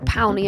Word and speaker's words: Powney: today I am joined by the lovely Deborah paly am I pronouncing that correctly that's right yeah py yep